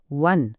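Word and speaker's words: one: वन rupee coin शब्द वन सुरू होतो ओ ने हा तर स्वर आहे पण उच्चार काय आहे? वन पहिला आवाज येतो व चा आणि व हा व्यंजन ध्वनी आहे.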